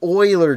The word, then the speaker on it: Euler: anyways dumbass thank you yes it is the Euler disk but it is spelled EUL er it's awesome super fun